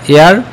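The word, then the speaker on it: heir: I have been waiting হেয়ার ফর an hour, এই hour উচ্চারণের আ হয়েছে Tahsin was an honest, you আর অ্যান এয়ার of this property, Raju is an honourable guest,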